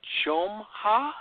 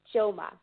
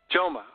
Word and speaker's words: Jomha: say your last name Chum ha how do you say that Yoma Joma ok good so we're here